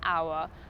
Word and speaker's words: hour: When we have nouns or adjectives where the /h/ is not pronounced, such as ‘hour’ – it sounds more like ‘our’, - then we need to use AN.